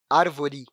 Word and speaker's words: árvore: Se formos pronunciá-la no dia a dia, vai ver que acaba colocando o "I" no lugar, ficando, assim, "árvori".